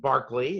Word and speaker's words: Berkeley: time was sir william barkley it's spelled berkeley but you're supposed to pronounce it with barkley um actually sent a